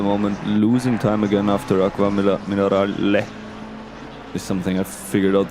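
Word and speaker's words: Acque Minerali: I always I always thought it's called Aqua Minarali, but uh apparently that's just how the English people how the English speaking people pronounce the name because actually it's an E like Aquaminale.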